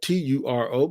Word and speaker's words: Turo: It's spelled Turo, but it's pronounced Turo.